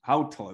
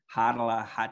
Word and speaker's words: Hautala: pronunciation was pretty accurate the hockey games the announcers how tall they got it right but when i moved off the wasabi range it quickly transitioned to harala just the name pronunciation